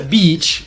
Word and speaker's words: beach: So it's beach with the long E. Yeah. I usually tell students that they should imagine that it's two sounds when it's a long sound, and that a short sound is just one beat, but the long sound is two. So you need to be able to fit two in there.